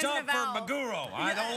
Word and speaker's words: maguro: accent, or is there really a mago No, maguro. roll? Yeah, it's maguro. Maguro. I know. Spell it. No, it's What's a it's maggot? Tuna fish. Mago. Tuna fish. Tuna. You know, Magoro.